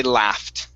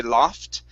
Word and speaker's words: laugh: so so for example when I say this word I say laugh okay there are some people in the United States that actually do say loft it's more of an a sound and then obviously